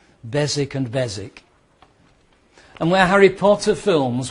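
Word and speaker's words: Beswick: it should be pronounced bezwick but it's not. The W is silent. It's a silent W. So the the pronunciation is bezic. Bezic and Bezic.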